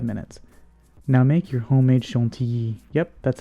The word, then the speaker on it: chantilly: Now make your homemade chantilly. Yep, that's how it's pronounced.